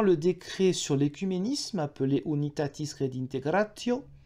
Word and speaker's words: Unitatis Redintegratio: décret sur l'écuménisme appelé Unitatis Redintegratio. Oui, je prononce à l'italienne, ça fera hurler les latinistes français, mais bon, voilà, tant pis.